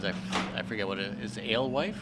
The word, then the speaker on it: Alewife: out where we are, I don't want to pronounce the place because I forget what it is. Alewife? Alewife, yeah.